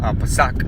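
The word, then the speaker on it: פסח: En el hebreo antiguo paleo la palabra se pronuncia Pasach.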